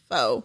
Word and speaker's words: faux: that's how you okay F Au ux is pronounced fo it's French like um also when people say